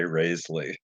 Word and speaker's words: Rasley: Well, phonetically, it should be Rasley, but my family, for the most part, at least when they're sober, sa pronounce it with the long A, Raisley.